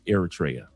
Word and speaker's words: Eritrea: Thank you for the proper pronunciation. Eratraa.